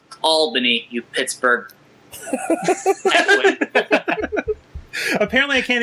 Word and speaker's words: Albany: Albany oh yeah radio baby it's uh it's pronounced Albany you Pittsburgh apparently I can't even announce the